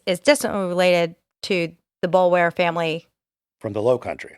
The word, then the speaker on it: Boulware: You will also hear the name Boulware, which is pronounced differently in the Low Country. This family is from the Columbia area, so we're going to pronounce it the way that it's spelled, which is Boulware.